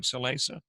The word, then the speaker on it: Shalaysa: Did I pronounce that right, Shalaysa? You did pronounce it correctly.